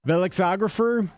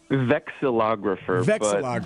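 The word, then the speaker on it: vexillographer: Velexographer. Is that right? Am I pronouncing that correctly, Michael? Vexilographer.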